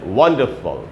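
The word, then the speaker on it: wonderful: तो दोस्तों इसमें ये जो पैटर्न होता है कि अगर कोई वर्ड एफ-यू-एल से ख़त्म हो रहा हो तो उस वर्ड में एफ-यू-एल का उच्चारण फल करके होगा, तो इसमें पहले सिलेबल पर स्ट्रेस है, वंडरफुल, वंडरफुल ऐसे पढ़ेंगे, ना कि वंडरफुल ऐसे नहीं पढ़ना है।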